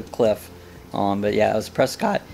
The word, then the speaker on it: Prescott: But yeah, it was Prescott. Is that how you said it? Prescott, like biscuit.